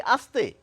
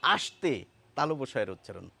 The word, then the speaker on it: আসতে: দন্তসের উচ্চারণ তালবসের মতো আমাদের বলতে হবে এস এইচ এর মত করে এবার এই শব্দটি যদি বাক্যে প্রয়োগ করি বুঝতে সুবিধা হবে তাকে আসতে দাও আসতে আসতে তাল উচ্চারণ করছি।